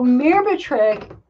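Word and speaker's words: Myrbetriq: um and let me just let me just spell it for you it's m-y-r-b-e-t-r-i -q so mirbatrick is the medication that's now being prescribed for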